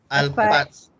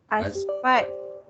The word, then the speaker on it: asphalt: Alfat. Bukan Alfat. Asfat. Bukan sepat. Asfat. Okay, ejaan dia ASPHALT.